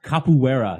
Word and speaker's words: capoeira: of that movie and and he was a kapa Wetty was that how do you pronounce it capoeira yeah where oh yeah yeah the the Brazilian